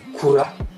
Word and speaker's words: Kura: savez comment il s'appelle, son nom original, c'est Kula. Donc Kula, Kula. faut faire un roucoulement avec sa langue. Mais en fait, ça s'écrit Kura. Donc K-U-R-A, tout simplement.